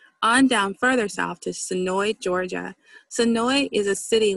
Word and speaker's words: Senoia: One thing for visitors to note about Sonoy is, although you might think Sonoy would most likely be pronounced Sonoya, don't be fooled.